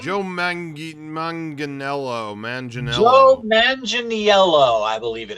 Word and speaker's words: Manganiello: how do you say his last name Joe Manganiello Manganiello Manganiello I believe it is yeah eivol